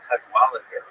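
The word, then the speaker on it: Cadwalladr: So there's a very good reporter there named Carol Cadwalader. The last syllable is kind of interesting because there's no vowel. It ends with DR.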